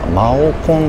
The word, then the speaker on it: 猫空: 猫空マオコンって読みますね。